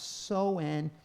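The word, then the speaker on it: Samhain: When and where shaman pronounced Soen, that's how I would pronounce it, because it's S-A-M-H-A-I-N, was a pagan festival.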